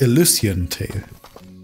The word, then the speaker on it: Elysian: Im Vorspann hat man eben schon gemerkt, gehört, dass Illusion Tail wahrscheinlich von mir falsch ausgesprochen wurde. Oder ausgesprochen wurde. Richtig heißt natürlich Illusion Tail.